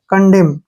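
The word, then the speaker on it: condemn: ठीक है ना और एम को लिखेंगे मैं कंडेम क्या पढ़ेंगे इसको कंडेम कंडेम नहीं पढ़ने है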